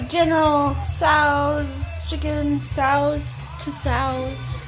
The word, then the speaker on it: Tso: The General Tso's chicken Tso's to Tso's. The T is silent, I'm pretty sure. Yep.